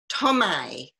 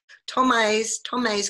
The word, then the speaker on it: Thomai: Thomai.